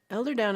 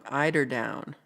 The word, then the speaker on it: eiderdown: Elder down is a comforter filled with down from elder ducks. They're old-ass ducks. Pookie says, oh, I'm saying it wrong. Eiderdown. My bad.